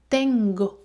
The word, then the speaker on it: tengo: So notice how I pronounce this vowel, g. Tengo. It comes from here.